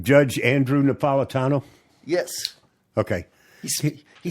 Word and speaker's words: Napolitano: It's not Napolitano. That's not Italian. It's Napolitano. Napolitano from Naples.